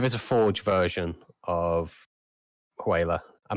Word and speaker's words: HWYLA: The next one is it's a form of whaler, but it's called I won't try and pronounce it phonetically. I will spell it HWYLA.